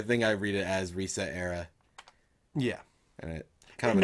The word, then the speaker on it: ResetEra: Resetera. How do you say it? I unfortunately I say Reset Era, but I think it's Resetera. It's Resetera because it's like etc.